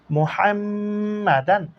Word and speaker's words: محمدا: মিম ফেশমু, হা মিম জবর হাম, মুহাম। মিম জবর মা, মুহাম্মা। দাল আলিফ দুই জবর দান, মুহাম্মাদান। ওয়া আশ হাদু আন্না মুহাম্মাদান।